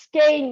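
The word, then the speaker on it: Skåne: warm which would be well I pronounce its game thank you well you're probably right sometimes I'm wrong believe me all right so it's skein guys what time of the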